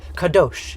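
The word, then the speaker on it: קדוש: Kadosh in Hebrew, K-A-D-O-S-H.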